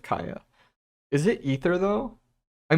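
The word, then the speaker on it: Kaeya: but I also say I used to say Kea instead of Kaya is it ether though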